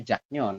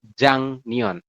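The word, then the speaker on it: 작년: Emang tadi awalnya kan tulisannya itu jak nion, tapi kita bacanya bukan jak nion, tapi jang nion.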